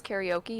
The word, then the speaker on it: karaoke: Karaoke is just how you pronounce karaoke in Japanese.